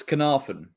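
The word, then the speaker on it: Caernarfon: Well, I do believe it's Carnarvon. Yeah. I do believe it's Carnarvon, yeah.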